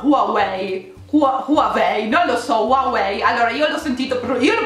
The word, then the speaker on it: Huawei: decisamente qualeil h non si pronuncia ed è pronunciato huawei ok quindi a capua one way huawei ok quindi se lo avete pronunciato così uomo